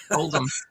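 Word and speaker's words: Oldham: So it's uh Oldm is uh and again I I you know what I knew that pronunciation right away. Um it's not old, it's old. Oldm.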